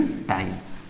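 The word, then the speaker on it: τ: तो इसको टॉर्क नहीं बोले, टॉर्क तो एक फिजिकल क्वांटिटी है, फिजिक्स की क्वांटिटी है, लेकिन टॉ जो है वो साइन को प्रोनाउंस करते हैं इस तरीके से।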